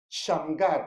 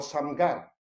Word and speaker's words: Shamgar: Dice el verso 31, después de él, de Ahod o de Ehud, fue Shamgar o Samgar. ¿Ok? Mire, aquí está en inglés, mire, véalo. Es así como se escribe en hebreo, Shamgar.